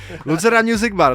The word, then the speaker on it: Lucerna Music Bar: Lucerna Music Bar.